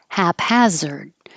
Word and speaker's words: haphazard: lounge chair Harmony Harmony haphazard both hap and has of the same vowel ah which you have to open a lot haphazard and haphazardly and